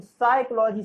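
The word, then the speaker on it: psychology: तो साइकोलॉजी शब्द में आपका पी होता है, वो साइलेंट लेटर होता है।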